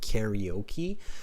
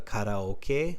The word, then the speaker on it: karaoke: in English-speaking countries, like most English speakers will pronounce it karaoke, but there are a lot who understand the karaoke, which is the Japanese, the original pronunciation.